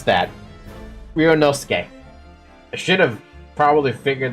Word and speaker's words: Ryunosuke: But I now know how to pronounce that. Ryunosuke.